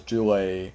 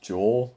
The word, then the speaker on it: Jule: I actually pronounced her name as Jule the first time because it was spelled Jule, so I thought it was pronounced Jule, but it's pronounced Jewel. So I'm like, oh, like the gem, like the gemstone called a jewel.